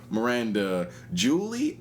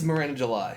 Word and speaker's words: Miranda July: It is an interesting movie by a lady named, the thing is, I always pronounce her name. I think it's either Miranda Julie or Miranda July. Okay, so it's Miranda July.